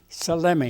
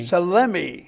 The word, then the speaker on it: Salemi: And you pronounce your last name. Selemi. Selemi.